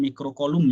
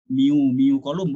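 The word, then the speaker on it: mikrocoulomb: Ini bacanya mikrokolum ya. Jangan miu kolum, bukan. Kalau miu itu di besaran. Kalau dibacanya di satuan itu namanya mikrokolum.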